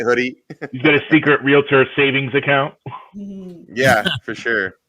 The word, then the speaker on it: Realtor: have to pronounce it Realtor. We sent them, we sent an air check. You're not saying it right. I said Realtor. No, you have to say Realtor.